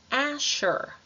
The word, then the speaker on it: Asher: que é o Azer Então esse s h aqui som de sh Asher Asher em seguida nós temos